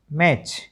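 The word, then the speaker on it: match: मैच को आप ठीक बोल लेते हैं। मैटच नहीं बोलते।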